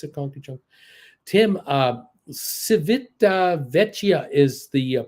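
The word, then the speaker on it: Civitavecchia: it is it's a country joke Tim uh civita vechia is the pronunciation we stayed in the uh port for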